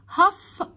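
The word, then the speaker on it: half: the people، more than، أكثر من، هف هف، خد بالك ال silent، of Egyptians، أكثر من نص المصريين، are، بيكونوا، under the age of 30، تحت سن الثلاثين سنة.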